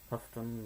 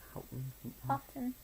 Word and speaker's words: Houghton: 1978 was when this one was published by Houghton Mifflin, or how do you pronounce it? Houghton.